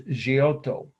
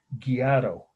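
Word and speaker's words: Giotto: the artist name is gioto is how the Italians would pronounce it g IO t t o or as my Indiana aunt my late Aunt used to mispronounce it gato gioto g o t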